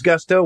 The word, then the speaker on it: Gusto: Now, what is Gusto? Well, it rhymes with musto or rusto, as in let's do it once more with Gusto.